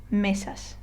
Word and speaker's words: meses: always the case so if I were to read this word correctly I would say meses okay so I kind of stress or I put more emphasis on the first syllable or next to last syllable another uh give you